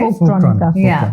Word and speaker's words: Folktronica: Folktronic, right? So that's how you pronounce it, right? Folktronica.